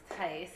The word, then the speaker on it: Theis: not to put you on the spot, but my name is pronounced Theis. It's hard. Theis? It's a German name, Okay. so it's really hard Thank to you. pronounce sometimes, especially with the H in there.